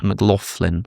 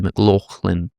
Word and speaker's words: McLaughlin: That's the reason I said whoever you are, because apparently McLaughlin is the American way with like an F. McLaughlin, whereas I would say McLaughlin.